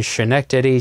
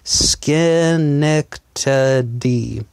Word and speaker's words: Schenectady: pronounce that name and I was saying shinnok Teddy senac Teddy and she actually wrote out some phonetics for me skin neck D she wrote it out